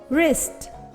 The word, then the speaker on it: wrist: silent in these words w r can sound er wrap right wrist wrong wreck did you notice that the letter w is silent in these words k n sounds um